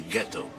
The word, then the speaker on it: ghetto: When the Jews arrived here, they were German-speaking Jews, so they transformed ghetto into hard G ghetto.